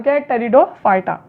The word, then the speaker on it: Pteridophyta: है थैलोफाइटा ब्रायोफाइटा टेरिडोफाइटा यहां पर यह पीस साइलेंट फ्रीडम फाइटर नाम टेरिडोफाइटा अब चलो देखते हैं